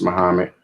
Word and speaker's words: Muhammad: So Muhammad, pronounced Muhammad, he was born in 570 and he died in 632.